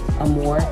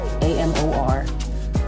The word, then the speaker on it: Amor: So it's Serayah Amor Brunson. Serayah, Serayah, Amor, Amor, Brunson.